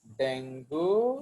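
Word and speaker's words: dengue: Aedes spread करता है डेंगू। Actually it इज नॉट डेंगू, इट इज डेंगी। इसका pronunciation है डेंगी।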